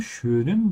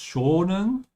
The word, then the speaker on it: schönen: Schönen, ja, with the umlaut, because schonen is a verb. It's a completely different kind of word. Just like we have schön and schon, we have also schonen. And schonen means to treat or to protect, so it's very important to say schön in here.